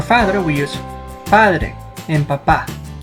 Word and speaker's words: papá: For father we use padre and papá. The mark over the vowel A is called tilde and helps us identify where the stress goes in a word. In this case we must pronounce papá, not papa, which actually means potato